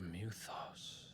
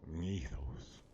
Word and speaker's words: Mythos: So this is the power of Muthos. Well, he pronounced it weird, right? Was it just me, or did he pronounce it weird? Mythos. It sounded like he added a syllable in there.